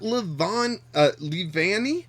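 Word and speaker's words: Leavanny: We've got Levani, I believe it's actually pronounced.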